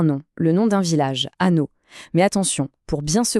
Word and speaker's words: Annot: le nom d'un village, Anneau. Mais attention, pour bien se comprendre dès le début, il y a une petite subtilité. Là-bas, on le prononce à note. On entend bien le t à la fin.